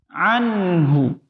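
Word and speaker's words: عنه: Ada nun sukun berhadapan dengan huruf H. Ini memang jarang kita temukan ada yang membacanya dengung. Anhu, itu jarang. Tetapi ada kesalahan yang sering terjadi. Apa itu? Yakni memantulkan bunyi huruf nun ketika mau beralih ke huruf H-nya.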